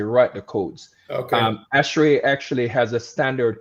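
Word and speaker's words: ASHRAE: Um this award, they they they I call it Ashray Technology Award. Is that the right pronunciation?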